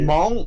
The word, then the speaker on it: Hmong: Is it Hmong? Oh, it's Hmong. Hmong. It's M. Yeah. So you have to kind of like you have to like open up your mouth, kind of like